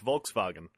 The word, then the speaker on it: Volkswagen: You started correcting Aaron a month, 2 months ago on his pronunciation of a German word with W in the middle. Yeah, he has to do it properly. It's Volkswagen.